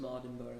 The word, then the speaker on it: Mardenborough: Am I pronouncing the last name correctly? Almost Mardenborough. Mardenborough, goodness gracious.